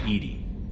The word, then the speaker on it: EDI: why are your name Edie Edie is the phonetic pronunciation of EDI that is an acronym